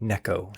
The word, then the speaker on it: Neko: And if you're like, it's pronounced Nico rig, I'm sorry, my friend. It's a Japanese technique, and the Japanese people, they pronounce it Neko.